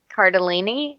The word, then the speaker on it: Cardellini: I like Linda Cardellini. How do you spell it?